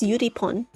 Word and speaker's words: Eurypon: I don't know how it's pronounced in English, but in Korean it's pronounced Yuripon.